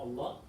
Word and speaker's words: Allah: So, going back to the ruling, we said that when kasra comes before Allah, it becomes light. Just say pronounced. Pronounced light. When kasra appears before it. Yes. When you say Alhamdulillahi Rabbil Alameen, Allah is pronounced heavy or light?